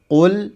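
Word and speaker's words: قل: Jadi yang benar qul bukan qul. Qul bukan qul. Yang berikutnya di huruf lam. Huruf lam di sini huruf yang tipis ya. Jadi bacanya qul. Jadi bukan qul qul tapi qul.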